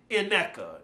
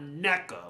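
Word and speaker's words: Nneka: So it is Ineka. It's not Neka, like naked.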